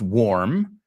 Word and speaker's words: warm: pronounce them with me so the first one's warm think of the word War always you know always isolate the vowel sound War okay now add an M warm are you nice and